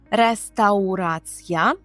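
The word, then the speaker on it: restauracja: Думаю, що ви зрозуміли, в чому тут сталася смішна ситуація, тому що для поляків, коли вони чують слово реставурація, але треба добре вимовляти через ау, реставурація.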